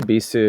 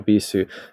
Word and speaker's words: Bisu: So your company, I think, is pronounced Bisu, and you have something which I... No, so, please correct me. We say Bisu.